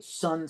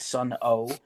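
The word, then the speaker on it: Sunn O))): Obi strip did come with a sun sticker, which I now can't find, but it's the sun logo. This logo, kind of cool. And the band is pronounced Sun and not Sun O.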